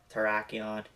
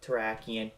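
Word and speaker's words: Terrakion: reviewed the Victini movies I pronounced their names as Cobalion Tron and Verizion when reality their names are calian Terian and verian this seems to always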